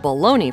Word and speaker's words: bologna: Children who come across the spelling of bologna for the first time might find themselves a little surprised. To most American ears, the word doesn't quite sound the way it's spelled. Surely bologna, with an E-Y, must be the proper spelling, right?